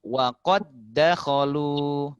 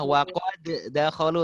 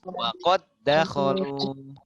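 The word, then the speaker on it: وقد دخلوا: Langsung masukkan di huruf yang kedua. Wa qad dakhalu. Coba. Jadi ingat tak boleh ada qol-qolah. Wa qad dakhalu, tak boleh. Tapi langsung masuk. Wa qad dakhalu.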